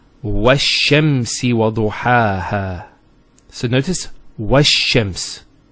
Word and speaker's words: وَالشَّمْس: This is L of definiteness. This is Hamzat al-Wasl. It's not pronounced, because there's something before it. Similarly, this lam is not pronounced either, because as we said, this is from the sun letters, and there's a shadda there.